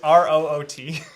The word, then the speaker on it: Root: an American game um route route it's r o o t oh oops but yeah I'm sure you could pronounce that route as well if you wanted to Ru I mean there's